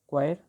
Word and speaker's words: coir: होता है, उसके लिए हम यूज़ करते हैं क्वायर, COIR, ठीक है, क्योंकि ये सारे के सारे प्रोनाउंसिएशन में सेम है।